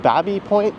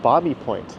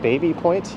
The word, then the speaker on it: Baby Point: I've heard locals call it both Babby Point and Bobby Point. The one thing everyone can agree on is that it is not Baby Point, even though that's how it's spelt.